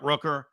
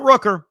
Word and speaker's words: Rooker: for him but Brett Rooker not a bad option and think about all the nicknames you could come up with because his last name rhymes with you know hooker yeah oh okay by